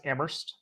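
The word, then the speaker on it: Amherst: you're doing right now you went to UMass ammer which I've learned how to pronounce correctly from my time in New England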